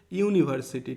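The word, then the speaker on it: university: যেমন আরও একটা এক্সাম্পল আমি যদি বলি, ইউনিভার্সিটি, ঠিক আছে, ইউনিভার্সিটি, বলো তো এখানে আমরা এ বসাবো না অ্যান বসাবো, ইউনিভার্সিটি, ইউ দেখো ইউ এর মতো উচ্চারণ হচ্ছে, বাট সেজন্য এটা ভাওয়েল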